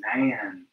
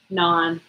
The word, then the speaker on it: naan: When you say nan, it sounds like, you're not real smart. Okay. Where's this? Oh, shoot. What? Say it again. Non. Well, it's not how it's spelled. N-A-A-N. Yeah, it should be spelled like N-O-N. Non.